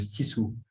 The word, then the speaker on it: sisu: C'est un concept qui n'existe que dans la langue finlandaise, qui est le sisu. Sisu, ça s'écrit S-I-S-U, et ça veut dire force intérieure,